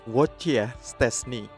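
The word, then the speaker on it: Wojciech Szczęsny: mereka menyebut nama aslinya prononciation yang benar adalah wojciech szczesny word ya stres nih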